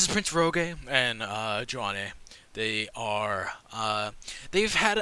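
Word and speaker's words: Joane: Joan Joanna Joan it's it's spelled j o a n e is that Joan yeah that's Joan actually I'm just she's pronounced Joan cuz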